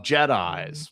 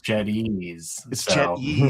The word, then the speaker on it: Jetyze: You're also the founder of Jedi, which we will talk about here in a moment. Um, which I I will correct you on this. So, not the last name pronunciation, but Jed it's Jedies.